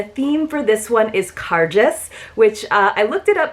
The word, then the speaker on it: Cairdeas: about the pronunciation and the best description that i saw was it's kind of a cross between saying gorgeous and car chase so it's car just so that does mean